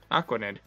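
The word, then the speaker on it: Araquanid: Aquanid. That's how you say it. Aquanid. Arachnid, but it's. Sure. It's arachnid, but they put aqua there instead.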